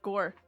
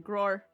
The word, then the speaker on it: Gore: I thought his name was Gore. Gore. Yeah. Was I saying it wrong? You were saying Gro.